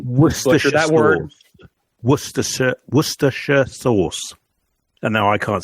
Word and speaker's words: Worcestershire: Worcestershire sauce. And now I can't say it. So Worcestershire sauce.